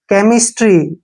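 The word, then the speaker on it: chemistry: है ठीक है ना सीच के बाद अगर तुरंत ईम आता है तो सीच को क पढ़ते हैं केमिस्ट देखि कैमो केमिस्ट्री केमो थेरेपी देखिए इन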